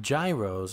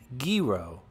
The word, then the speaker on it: gyro: work in downtown manhattan and i always ordered gyros until i was corrected by a greek co-worker who said it's pronounced gero till this day i still pronounce it gyro